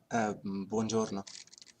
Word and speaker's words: buongiorno: buongiorno. What? Yeah, I know. Bonjour là. Buongiorno. Bonjour. No. Oh, it's kind of like bonjour, like French.